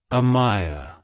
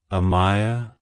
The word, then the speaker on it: Amiah: Amaya it's pronounced as Amaya Amaya Amaya to pronounce it correctly emphasize the a sound at the beginning followed by a clear my and a soft ah at the end like hello Amaya goodbye